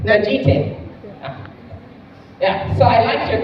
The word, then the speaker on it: Najite: Najite.